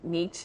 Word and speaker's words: niche: You need to focus on a certain niche, is how you say the word.